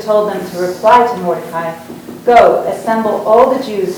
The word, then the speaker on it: Mordecai: at work, that Mordecai, I always pronounced it Mordecai, I'm sorry. I will continue my pronunciation since it's, of course, correct.